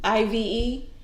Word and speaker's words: IVE: you need a diet it's pronounced what I've it's not Ive Oh I thought it was a whole initial okay so it's I've thank you thank you